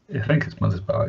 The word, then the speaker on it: Mothersbaugh: fact Mark Mothersbaugh Mothersbaugh how do you say mothersbaugh mother's bar oh yeah yeah he